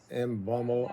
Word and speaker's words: Mbeumo: We who have the Here we go with Brian Embo. I can't say his name. People give me because I can't say it. It's Mumbo.